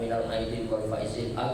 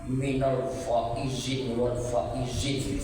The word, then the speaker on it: minal aidin wal faizin: Tapi bacanya yang benar, karena ada pula sebagian bapak ibu saya dengar bacanya minal faizin wal faizin. Apa itu? Yang betul lah bacanya, karena itu doa minal a'idin wal faizin.